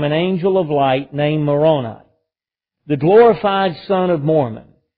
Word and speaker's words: Moroni: Moroni or Moroni is probably the best way to pronounce it.